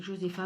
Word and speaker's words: Josefa: Donc Suzy, elle a 17 ans, elle vit avec sa mère, Josefa, ça s'écrit Josefa, mais moi je dis Josefa.